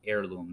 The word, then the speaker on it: heirloom: u or words that begin with a silent h such as heirloom the word heirloom which